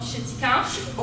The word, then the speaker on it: Chéticamp: And how do you pronounce it? You say Oh, Chéticamp.